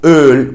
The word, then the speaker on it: Öl: with the two dots, which is pronounced as Ö in words like Öl, which stands for oil. Also a pretty easy sound. You might recognize that sound from words like work, where your mouth also kind of pronounces that pronunciation.